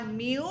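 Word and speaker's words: μ: find the mean and that is represented by mu it's a Greek uh letter mu which is pronounced of course like me w mu ink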